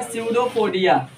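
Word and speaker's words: pseudopodia: में क्या बोलते हैं, स्यूडोपोडिया। ठीक है ना, इसमें पी साइलेंट होता है, और ये पैर जो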